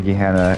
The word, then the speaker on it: Gehenna: So the DLC from Talos Principle is Welcome to Gehenna, and it looks just like how these three things are.